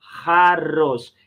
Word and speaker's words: jarros: Lembra a pronúncia do J, né? Jarros.